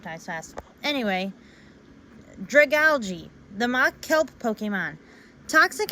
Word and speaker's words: Dragalge: Even so, it says Dragalge, it's Dragalge. Because that's how it's said in the anime. I even looked it up online, how to say it on Google, and Dragalge is how you say it.